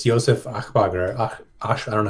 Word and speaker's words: Aschbacher: It's Josef Achbacher. I don't know how to say it. Aschbacher, I think is how you say it.